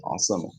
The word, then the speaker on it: عاصمة: عاصمة بالصاد مش سين. No, صاد. عاصمة.